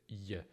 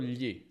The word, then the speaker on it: gli: Un errore comune è che molti pronunciano gli come se fosse lie, una combinazione di l e gli.